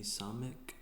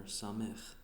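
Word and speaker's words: סמך: The next one's going to be Samek, or Samech, It kind of has like that the chet sound at the end of the letter or the pronunciation.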